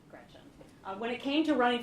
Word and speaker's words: Gretch: named after my grandma Gretchen who I adore. It's funny though because she always said never let anyone shorten your name. Don't let people call you Gretch because it rhymes with wretch.